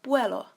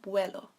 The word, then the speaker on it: vuelo: And we have vuelo, which is pronounced with a B at the front. So ¿Cuándo el próximo vuelo?